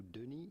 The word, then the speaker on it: Denis: Do not pronounce the S to Denis, it is silent.